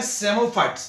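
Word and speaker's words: psammophytes: अब एक और है सेमोफाइट्स, एक और है सेमोफाइट्स। सेमो, इसको पी साइलेंट रखो।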